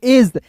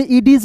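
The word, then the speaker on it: edge: तो यहां पे डी साइलेंट होगा। ई का दोस्तों ए पढ़ते हैं और जी का दोस्तों ज पढ़ते हैं। तो क्या पढ़ेंगे? एज। इसे इडीज नहीं पढ़िएगा दोस्तों।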